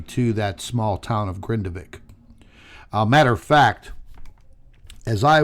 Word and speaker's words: Grindavik: Now, as I mentioned, Grindavik, I'm pretty sure that's how you pronounce it.